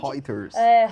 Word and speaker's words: Reuters: É até difícil, eu como pernambucana, pronunciar esse babado aqui, Reuters, acho que é mais ou menos isso a fonte. Reuters.